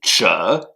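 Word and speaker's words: 者: Le deuxième caractère que nous voyons aujourd'hui, c'est Zhe, Z-H-E, troisième ton qui s'écrit de la manière suivante.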